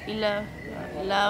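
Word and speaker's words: إلا: ইল্লাল্লাহ ভেঙে বলতে হবে ইল্লা মানে ছাড়া আর আল্লাহ তো আল্লাহ হ্যাঁ আর ইল্লা বানানটা হলো আলিফ আর লামের ওপর তাজদিদ ইল্লা হ্যাঁ এখানে ইলাহ আর ইল্লা একই জিনিস না, দুটো আলাদা জিনিস।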